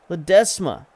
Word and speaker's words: Ledesma: we brought in Ledesma his name is ledesma it's been pointed out in the comments that that's how you pronounce his name not necessarily as many loves and ease as I put in there so we'll try to